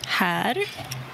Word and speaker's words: här: Här. Hel, här. C'est la même lettre, c'est la même voyelle, mais la deuxième est suivie d'un R. Donc la prononciation a été modifiée.